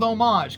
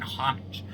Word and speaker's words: homage: get the relationship with homage cuz how I always pronounce that word with like a silent h it's probably wrong but I think it sounds nicer than hanage I don't like having